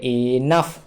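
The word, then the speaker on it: enough: এইচ এ ফ তাহলে এনাফ এনাফ মানে হলো যথেষ্ট তাহলে এক্ষেত্রে জিএচ এর উচ্চারণটা হলো সেটা ফ এর মত তারপর দেখো টাফ প্রশ্নপত্র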